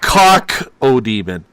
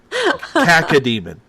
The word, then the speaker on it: Cacodemon: Cacodemon. Oh, I thought it was, okay, I spelled that completely wrong. Not cock-o-demon. Cacademon. Cacademon, okay.